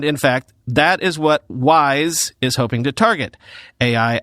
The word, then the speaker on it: WSE: engine or wse although they want you to pronounce that wise for the purposes of future marketing wise is 57 times